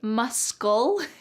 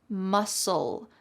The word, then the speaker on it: muscle: Do not say muscle. Instead, it's just muscle.